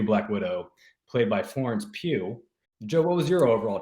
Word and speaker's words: Pugh: a dutch then hawk like a poo like a puke i think it's what sort of florence are we talking about do we know i'm not sure i'm gonna wikipedia sometimes gives you a pronunciation guide wow you guys will not believe this it's florence pugh i would not have guessed i would not have guessed that it is florence pugh yeah so i mean